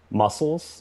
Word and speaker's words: muscles: 000 of these more than you have sam muscles muscles is correct for one point silent c